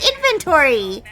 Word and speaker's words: inventory: no there's an o in there there's a o it's inventory inventory shut the [ __